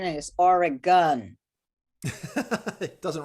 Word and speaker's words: Oregon: yeah that's a great song and the correct pronunciation is oregon it doesn't rhyme with anything it's a problem